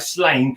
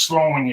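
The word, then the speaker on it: Sláine: It looks like Slain. I think it's pronounced Sloan, or something like that.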